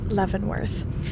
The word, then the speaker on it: Leavenworth: town that we later found out is actually pronounced leavenworth anyway we had read a little bit about